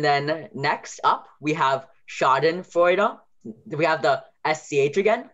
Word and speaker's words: Schadenfreude: And then in this case, Oi, like Schadenfreude, is EU. So Au is AU. Oi is EU.